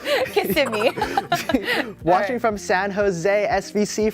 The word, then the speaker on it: Kissimmee: You know, I didn't know how to pronounce Kissimmee until I started hosting. Really? What'd you think? Kiss me? Yes. Kissimmee.